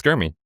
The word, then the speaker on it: Germie: Well, it's Germie.